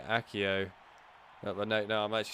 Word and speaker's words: Accio: jinx is counted there probably heard me say accio but no no i'm actually saying it right now probably heard me say axio even this is just like god of fire